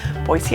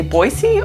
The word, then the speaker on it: Boise: to come for that how do you say boise do you say boise or boise i will tell you for locals if you say boise it's a dead giveaway that you're not from here if you moved here